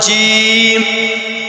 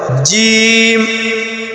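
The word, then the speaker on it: جيم: এটার নাম হল জিম। জিম। জিম। জিম উচ্চারণের সময় আপনার জিহ্বার মধ্য মাঝখান উপরে তালের সঙ্গে লাগা উচ্চারণ করবেন জিম শক্ত করে জিম জিম এরপরে একই সিস্টেম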